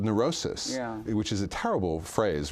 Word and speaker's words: neurosis: Well, for medical disorders, but for what's called neurosis, which is a terrible phrase, really, a terrible word, that, it rhymes with psychosis.